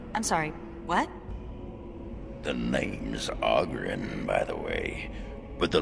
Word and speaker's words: Oghren: The name's Oghren, by the way. But the ladies pronounce it Oghren.